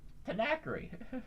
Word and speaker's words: Tanqueray: It's not Tanak. It's Tanqueray.